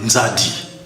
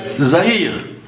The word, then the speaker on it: Nzadi: Nzadi. Ils n'ont pas pu prononcer Nzadi, ils ont dit Zahir.